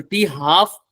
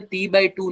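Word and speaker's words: t½: तो टी हाफ का मतलब टी बाई टू नहीं है। इसको प्रोनाउंस ही ऐसे करो। क्या बोलोगे इसको? टी हाफ। इसको टी बाई टू नहीं बोलोगे, गलत हो जाएगा।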